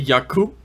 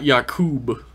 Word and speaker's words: Yaqoob: i saying right though it's apparently yuck ooh yeah okay not Jakub well yourself no I'm